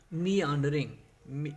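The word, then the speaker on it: meandering: अब देखिए, अगला वर्ड है मी आंडरिंग। इसको आपने इसकी जो प्रोनाउंसिएशन है वो ये है कि मी आंडरिंग।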